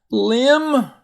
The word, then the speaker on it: limb: Limb, careful climbing out on a tree limb.